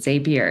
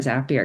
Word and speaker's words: Zapier: So that's why it doesn't have the double P, but that's why people often pronounce it Zapier instead of a Zapier because it doesn't have the double P like happier.